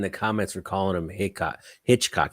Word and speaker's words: Hickok: Don't say Hitch. I call him Hitchcock 45. People were talking smack. I got like 10 messages. Pronounce his name right, bro. Sorry. I was like, dang, my bad. It's Hickok, not Hitch.